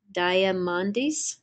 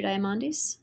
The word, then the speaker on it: Diamandis: a n as in not d i s diamandis so Peter diamandis okay I find your things are very invigorating